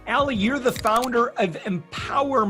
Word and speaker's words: EMPWR: Ali, you're the founder of EMPWR Magazine, and it's spelled EMPWR Magazine.